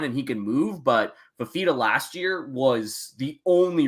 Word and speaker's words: Fifita: It's Noah Fifita.